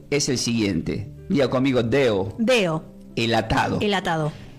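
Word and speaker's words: δέω: Diga conmigo, deo.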